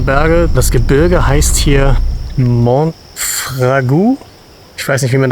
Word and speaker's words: Monfragüe: Richtig ausgesprochen heißt dieser Nationalpark Monfragüe. Also im Rahmen meiner Möglichkeiten. Die Punkte auf dem U am Ende zeigen an, dass das U mit ausgesprochen wird.